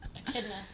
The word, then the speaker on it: echidna: Echidna, that's how you say it.